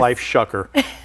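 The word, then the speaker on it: Lifeshocker: is the founder of and I really had to practice saying this life shucker uh because it kind of rhymes with another word I'm so fond of but anyhow the website is LIF shocker.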